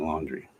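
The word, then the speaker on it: Laundrie: name the the suspect his last name is brian laundry when it's spelled l-a-u-n-d-r-i-e that's their that's their name laundry but yeah it'll all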